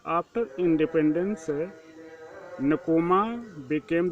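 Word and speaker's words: Nkrumah: क्वामे नक्रोमा, pronounce इक्रोमा, सन of gold Smith and himself a teacher.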